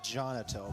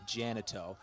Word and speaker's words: Jonato: My pronunciation guide says Jonato, but I'm hearing the PA guy say Janato, and I'm going to assume the PA guy probably knows his name.